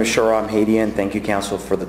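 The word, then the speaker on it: Shahram Hadian: Lee, and I apologize if I mispronounced your name. No problem. You were close. My name is Sharam Hadian.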